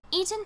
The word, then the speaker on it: Etan: I'm assuming it's like Ethan, so I'm saying Etan.